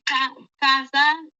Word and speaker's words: casa: Ou dit casa, est là prononcé comme Z dans le temps.